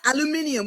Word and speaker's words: aluminium: Talk to me about what you know about Aluminium. We call it aluminium in England. So Okay, I is learned. the American pronunciation.